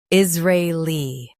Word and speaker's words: Israeli: Is ra li Israeli Emphasize ra and keep li light.